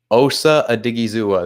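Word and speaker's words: Osa Odighizuwa: He gets blown up at the line by, let me say his name right, Osa Adigizua.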